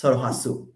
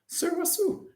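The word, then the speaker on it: Sulwhasoo: So actually it's Seolhwaseol. Seolhwaseol.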